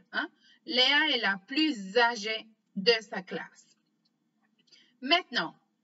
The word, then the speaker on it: plus: Léa est la plus âgée de sa classe. Maintenant, regardons l'exemple où on ne prononce pas la lettre S à la fin du mot plus.